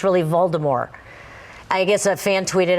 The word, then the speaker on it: Voldemort: How do you know the T is silent?